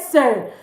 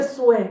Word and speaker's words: sœur: Cette sœur. Please, people say swear. Or it's not swear, it's say, like say. That's it. Okay? So cette sœur, this or that sister.